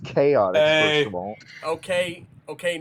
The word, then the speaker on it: Chaotix: It's pronounced chaotic, Hey.